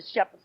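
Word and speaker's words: Shephard: we might put a t and then still pronounce it as Shepherds you got to remember we come from a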